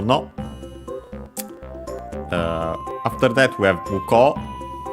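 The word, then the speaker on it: 向こう: The accent is on the ko, muko, but of course, because OU, so long O, and so actually on the ko, because it's on the syllable.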